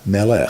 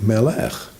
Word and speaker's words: melech: Melach, melech, salt, king.